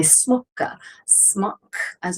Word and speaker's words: smock: And I am wearing, of course, over top of that, my smock, as we say in modern English, smocka in 15th century pronunciation.